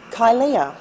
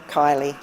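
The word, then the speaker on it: Kylea: see my name many find it hard to pronounce and often call me kylia but it's literally plain kylie spelt in a way that only young optimistic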